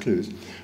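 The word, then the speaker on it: Clowes: But about 9 years later, I met a person called Max Clouse, C-L-O-W-E-S, spelled Klaus, but pronounced Clues, who was working on machine vision, who had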